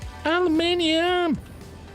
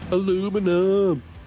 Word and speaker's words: aluminium: Could try saying it like the Americans say it. See See if that rolls off the tongue. Aluminum.